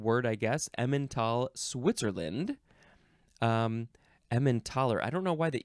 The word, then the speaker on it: Emmentaler: Next is emmentaler? No, emmentaler. I thought it was emmentator for a second. Emmentaler, capital E-M-M-E-N-T-A-L-E-R. Or you can spell it with a TH, or it can be Emmental.